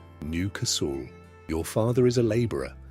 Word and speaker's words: Newcastle: You live in a working-class street in Leeds, or Liverpool, or Newcastle, pronounced Newcasl.